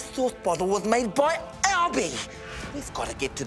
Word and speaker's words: Albie: Do you want to pronounce it Albie or Alb, or do we want to put like a C on the back of it so it's Albeck? It just sounds... It's Albie.